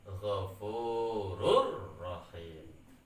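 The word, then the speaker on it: غفور رحيم: Tanwin di sini bertemu dengan ro ya di depannya ini maksudnya ya tertulis ghafurun rahimun, tapi cara bacanya ghafurur rahim.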